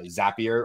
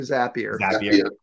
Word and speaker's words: Zapier: to talk about uh zapier or zapier or maybe that's the first the first discussion point is how the hell do you pronounce it um zaps so it's probably zappier it's a it's a